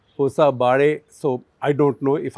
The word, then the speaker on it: Hosabale: It's not Hosabale, it should be something like Hosabare.